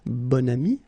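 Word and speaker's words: bon ami: this adjective okay and then you pronounce it bonami when you make this link second example bam so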